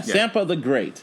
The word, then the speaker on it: Sampa the Great: say it right is it s sampa yeah sampa the great and she dropped her called